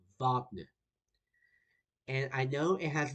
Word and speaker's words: Wagner: say his name is Wagner. I know it starts with a W, but in German you pronounce it as a V.